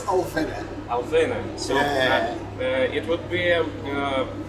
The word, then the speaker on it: Alvinne: So once and for all, is it Alvinne? Actually, it's Alvinne.